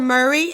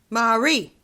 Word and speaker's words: Marie: And even getting lunch, the guy's like, for Murray? And I was like, how can you mispronounce Marie? Marie, not Murray.